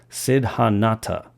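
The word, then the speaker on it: Siddhanta: sorya Sid excuse me Sid hanata I believe is how you pronounce that according to the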